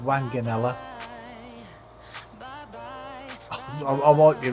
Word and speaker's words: Wanganella: I think it's pronounced Wanganella.